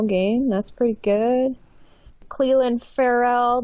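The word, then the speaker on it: Ferrell: Cleland Farrell, did I say his name right? Farrell. Apparently it's Farrell.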